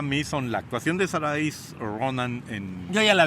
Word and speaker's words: Saoirse: Sasha.